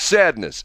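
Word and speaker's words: Sadeness: have somebody who says it's not Satan is it's sadness it's spelled on the album s-a-d-e n-e-s-s which would be sadness if you have an e after an a would be that makes it long so it's sadness part one and the dude he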